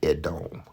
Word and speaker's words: Edom: That's how they pronounce it. Edom. Okay. Edom equal red.